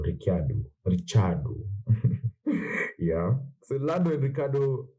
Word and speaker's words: Ricciardo: lando and ricciardo yeah it's funny how people say his name is ricardo but it's actually an italian name ricciardo richard yeah the london